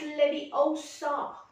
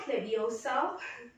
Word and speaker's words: Leviosa: It's Leviosa, not Leviosa."